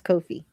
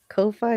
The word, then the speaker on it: Ko-fi: I learned how to pronounce Ko-fi. It looks like Wi-Fi, so I was calling it Ko-fi, but it's Ko-fi.